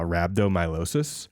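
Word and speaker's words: rhabdomyolysis: do it too intensely it can cause uh rabdom myosis oh no um which is is that how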